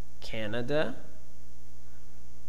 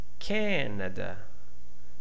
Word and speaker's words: Canada: Uh are you able to pronounce them? Canada, Canadian. Okay, here we have the stress model to to to lead us to help us. Okay, can longer and loud. Okay, unstressed, short and soft. Canada, Canadian, right?